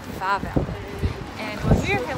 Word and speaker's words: Wawel: It's spelled Wawel, but it's actually called Wawel.